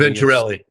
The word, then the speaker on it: Venturelli: I can't pronounce the name. Churlius. Venturelli.